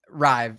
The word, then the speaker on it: Ry: say your last name Ry rhymes with the number five okay perfect R that's